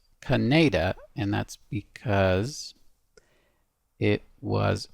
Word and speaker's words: Khanada: the song history so this song according to the wiki is pronounced Canada and that's because it